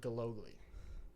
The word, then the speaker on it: Gillogly: And then our special guest this week, voice of the Bobcats, Keaton Gillogly.